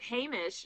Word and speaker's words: Hamish: So Hamish, am I saying it right? You are actually. I get a lot of Hamish? It's an unusual name. It's Hamish. It's Scottish. It's also in Scotland they'd